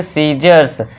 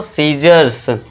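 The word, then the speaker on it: scissors: यदि ई और आई से पहले ये थोड़ा ध्यान देना है, और एस के बाद सी हो तो सी साइलेंट होगा।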